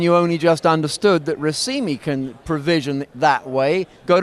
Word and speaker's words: Racemi: So it's it's RIMI which uh really should be Rimi uh which is a